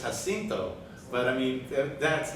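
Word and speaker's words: Jacinto: to sit there because it was spelled like j-a-c-i-n-t-o and every time he went to speak to him you'd have to think about how to pronounce his name because it was it it was hasinto but I mean that's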